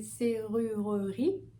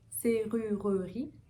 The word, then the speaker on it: serrurerie: Ok, alors on peut soit prononcer serrurerie, serrurerie, ou alors serrurerie. La difficulté ici, bien sûr, c'est le son R.